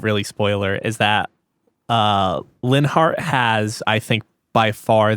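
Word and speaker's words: Linhardt: I don't know how they pronounce it in English. Yeah, Linhart. Yes, it is Linhart in English, and he is my 3rd favorite.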